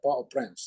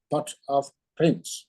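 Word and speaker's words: Port-au-Prince: capital po po prance po prance yes pronouncing in French Po in French po prance in English pot of Prince well it's not it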